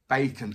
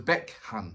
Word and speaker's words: Baekhyun: what the thing is i've had had a number of um subscribers that's told me how to pronounce it bacon oh yeah bacon bacon there you go oh it's beckham there you go beckham there you go beckham got it you know what we're